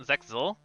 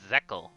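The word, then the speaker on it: Zexal: let's pronounce zack zeckel wait really it's not zexizol it's zekkel okay interesting zekkel then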